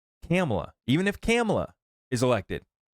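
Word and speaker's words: Kamala: Trump is elected or Camala camela sorry I shouldn't mispronounce her name I'm trying to correct myself now camela even if camela is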